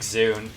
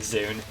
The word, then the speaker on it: ZUN: gone to discussions, like Zune. Like, some people think it's pronounced Zun, you know, like the sun. But it's based off his real-life name, which is Junya, so I hope it's fucking Zune.